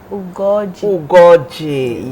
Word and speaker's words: Ugoji: There's a particular O to the name. Ugoji, yes.